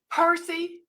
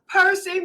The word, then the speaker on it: Percy: Welcome, welcome, welcome, Percy.